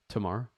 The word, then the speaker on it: Tamar: your day peace am i pronouncing your name right by the way say it again tomorrow yes perfect okay i think canadians